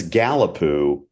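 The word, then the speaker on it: Gallapoo: It's Galipoo. Imagine that. Imagine being in sixth grade. Like Ruby, like Yeah, sure. with a last name that ends in Pooh.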